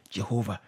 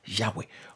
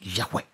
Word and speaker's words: Yahweh: All right, Jehovah. But because Y, yeah. Okay, it's not J, it's Y. That's why some people say Yahweh. Just put A and Yahweh.